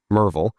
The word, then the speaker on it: Merville: guys would call it, but it's Merville. Um, Merville. Mervel. Yes. Yeah. Everything's a VO, not a vill, right? So you got to say it correctly.